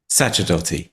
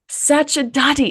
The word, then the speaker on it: Sacerdoti: it you do it tell me how to pronounce it correctly Sati Sati isn't that so beautiful so I was just